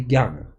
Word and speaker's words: jnana: We say jnana. But they don't have any hard G or really much of a J sound.